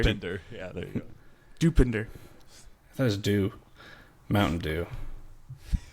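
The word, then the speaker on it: Dopinder: you say iter dender yeah there you go dupinder thought was do Mountain Dew um he says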